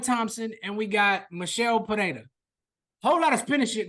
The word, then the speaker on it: Pereira: I don't see Pelela. I said his name wrong. Pereira.